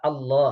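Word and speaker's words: الله: যে এই শব্দটা আল্লাহ, আপনি একটু মুখ দিয়ে উচ্চারণ করেন তো, আল্লাহ। আল্লাহ দেখেন তো, মুখের ঠোঁটের কোনো কাজ এখানে নেই। আল্লাহ, আপনি মুখ বন্ধ করে ইচ্ছা করলে আল্লাহ আল্লাহ শব্দটা উচ্চারণ করতে পারবেন। খালি জাস্ট জিব্বাটা লড়াবেন, ঠোঁটের কোনো ফাংশন এখানে নাই।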